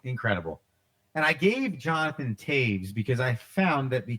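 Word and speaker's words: Toews: moving on number two jonathan teiges jonathan taves captain of the chicago black ox correct t-o-e-w-s that is correct there you go two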